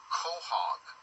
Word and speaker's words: quahog: The purple beads that look black to some people come from, how do you say it, quahog, which is Quehog.